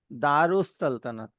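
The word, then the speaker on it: Dar-us-Saltanat: that Washington DC London तो अब यहां दार अल सल्तनत स्पेलिंग में लिखा हुआ है लेकिन इसको हम पढ़ेंगे दारु सल्तनत लाम will be silent sun will be double and अलिफ बिकम्स उ दारु सल्तनत तो वो अल की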